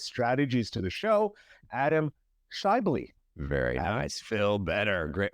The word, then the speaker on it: Schaeuble: Now, without further ado, let's welcome the maestro of podcasting and business strategies to the show, Adam Shyley. Very nice, Phil. Better. Great, man. Great job on the pronunciation.